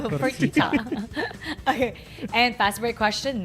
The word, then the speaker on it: Fertitta: His last name rhymes with fajita. Fertitta.